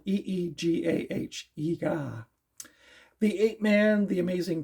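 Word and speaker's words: Eegah: So this has Manos, The Hands of Time, Track of the Moon Beast, The Beast of Yucca Flats, Ega, it's spelled E-E-G-A-H, Ega, The Ape Man, The Amazing Transparent Man, The Atomic Brain, Dementia 13, which I've seen, and it's not so good.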